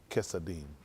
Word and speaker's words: Chesadim: I said they going to probably, no, I'm saying they probably going to spell it C-H-A-S-E-D-I-M. But I'll say C-H-A-S-A-D-Y-M. Chesadim.